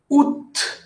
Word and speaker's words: Août: Août. Recuerden que es una excepción y la T se pronuncia, la T final no se pronuncia generalmente, pero este mes pues, es una excepción.